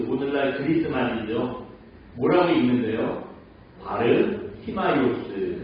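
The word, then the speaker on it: Βαρτιμαῖος: 그리스 말이죠 뭐라고 읽는데요 바르 티마이오스 이렇게 읽는데 근데 우리 성경에는 뭐라고 나오죠 이름이 바디메오 예 그러니까이 바디메오는 영어식 발음이고 그 바르 스마스 그 그리스말 그 당시 헬라 말의 발음인 거예요 그리고 그 보시면 바를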